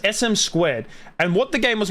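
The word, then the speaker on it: SM²: was called SM squared I'm pretty sure it's SM squared not sm2 it's pronounced SM squared and what the game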